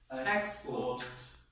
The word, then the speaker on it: export: On the first syllable, that's right. And they sound like what? Import. Export.